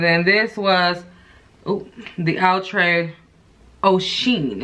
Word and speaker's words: Oceane: So that last wig was Anisha wig that I did, and then this was the Outre Oceane is what I'm gonna call it, because it's spelled O-C-E-A-N-E.